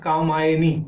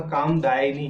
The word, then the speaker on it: कामदायिनी: अच्छा, दूसरा जो भगवती का 63वां नाम कामदायिनी था, तो एक दो स्थल पर हमने वहां पर कामायनी इस तरह का उच्चारण कर दिया है, तो वह कामदायिनी ही समझें।